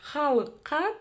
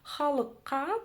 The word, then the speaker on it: халыққа: Чтобы прочитать букву «к» с хвостиком снизу, нужно просто отхаркнуться через букву «к», обыкновенную «к».